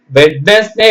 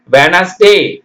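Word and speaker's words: Wednesday: போடக்கூடாது judge okay judge வெட்னஸ்டே நம்ம படிப்போம் இல்லைங்களா வெட்னஸ்டே இல்ல வெனஸ்டே வெட்னஸ்டே English English medium பசங்கலாம் இத கரெக்ட்டா சொல்லுவாங்க வெட்னஸ்டே w டி போடணும் ஆனா உச்சரிப்புல சொல்லக்கூடாது w வே டி விட்டுட்டு என் S Venice DA ஒய் டே வெனஸ்டே வருதுங்களா f ஆர் ஐ டி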